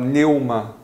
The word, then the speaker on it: pneuma: Mas essa palavra espírito, pneuma, no grego, essa pronúncia correta, a gente não fala o P, você fala pneuma, o P só aparece assim.